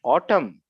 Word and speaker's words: autumn: Autumn, but the spelling needs a N, autumn, right?